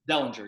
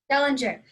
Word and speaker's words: Dellinger: Dellinger, yeah. Dellinger.